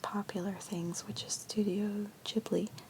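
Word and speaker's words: Ghibli: things which is Studio jibli sorry jibli is how you pronounce it uh so Studio jibli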